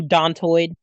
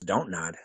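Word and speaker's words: Dontnod: you don toid i always thought it was don't nod well it is though not he just doesn't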